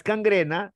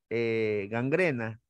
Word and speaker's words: gangrena: la palabra catarro catarro no es cangrena si no es gangrena no es vascuense con